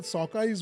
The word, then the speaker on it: sockeye: So the Seattle Sockeyes would have been a very good name because the Sockeyes Sockeye. actually rhymes with hockey.